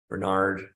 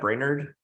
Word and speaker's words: Brainerd: even been to Minnesota but like Road Chester Bernard how do you say that Brainerd yeah yeah but uh this is a really